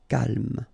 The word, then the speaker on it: calme: So don't insist on the final E. Calme.